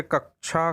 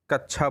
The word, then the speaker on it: कक्षा: प्रायः देखा जाता है कि बच्चे क्षा क्षत्री वाला जो होता है उसको छा उच्चारित करते हैं, जैसे कक्षा को कच्छा बोलना। इसी प्रकार और भी जो शब्द हैं उनके उच्चारण में अशुद्धियां करते हैं।